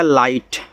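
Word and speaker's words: light: हैं लाइट क्योंकि आई जी एच टी आपका आई होता है जिसमें आपका जी साइलेंट होता है तो एल लग जाएगा तो आपका हो गया लाइट और लाइट का मतलब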